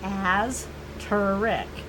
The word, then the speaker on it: asterisk: It is pronounced as turic.